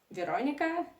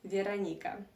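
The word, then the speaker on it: Вероника: culture you would say Veronica and in Russian language my name is pronounced veranica that's the difference yeah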